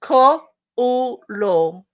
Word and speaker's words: Cthulhu: It's Cthulhu.